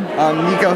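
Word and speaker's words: Niko: Nico Chivarella. Nico, can you spell Nico, N-I-K-O. it? And the last name? Chivarella. Spell it.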